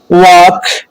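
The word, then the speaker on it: walk: एफ, के, एम से पहले आने वाला एल साइलेंट होता है, जैसे काफ, वाक, याक, काम, बाम, पाम।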